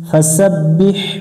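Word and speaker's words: فَسَبِّحْ: بحزر بح فسبح فسبح এখানে অনেকজন ভুল করে ফাসাব্বি খালি বি হবে না বিহ বাজের বি হামিম জবর হাম বিহাম দালজের দি বিহামদি ফাসাব্বিহ বিহামদি রব জবর রব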